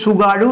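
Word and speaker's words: Tsugaru: important straight সেটা হচ্ছে সুগারু straight সুগারু straight টি এর উচ্চারণ হয় না তোমরা যেমন সুনামির ক্ষেত্রে জানো সেরকম এই সুগারু স্ট্রেট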